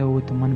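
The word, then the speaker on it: عثمان: Arabic में इसे उतमन pronounce किया जाता है। लेकिन वेस्टर्न लोग इसे ऑटोमन प्रोनाउंस करते हैं।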